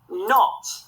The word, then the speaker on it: knot: It's a scarf with a knot in. Well done, knot has got the silent K at the start.